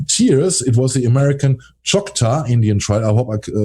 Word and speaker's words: Choctaw: It was the American Choctaw Indian tribe. I hope I pronounce it correctly. That's correct. Choctaw, who were on the Trail of Tears in 1847.